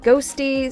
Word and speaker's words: Qhostii: It's spelled Qhostii, but apparently it's pronounced Ghosty, so that's what I'll continue to refer to them as.